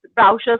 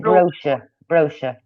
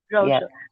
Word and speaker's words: brochure: right and then vouchers browsers need some information is there on the card or it's like advertisement or something it's a browser that's a brochure you pronounce it brochure brochure correct me my grammatical mystics